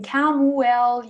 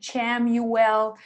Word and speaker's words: Chamuel: How do you pronounce Shamuel? You can Camuel, you can say Chamuel, Shamuel.